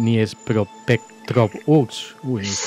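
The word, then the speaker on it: Дніпропетровськ: No sé si se pronuncia bien, tú estabas, naciste en Dniepropetrovsk. Sí, no, mira, es fácil, no. El río se llama Dnieper. Y hay un revolucionario que se llama Petrovsky. Entonces se juntas Dnieper, Petrovsky.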